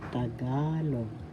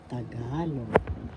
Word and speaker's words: Tagalog: ka third syllable log the the accent is in the second syllable tagalog tagalog today we are going